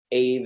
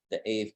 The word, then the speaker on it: Aave: So if I click this, it's going to take me to the AVE page, Aave, I think it is actually pronounced.